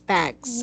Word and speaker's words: bags: Okay, bags, because what happened earlier is you forgot the S word. But that is just the only word that you forgot uh, to pronounce the last sound. So it's bags.